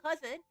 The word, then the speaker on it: CUZN: The group I'm in is called Cousin. It's Cuz Zen. It's pronounced cousin though.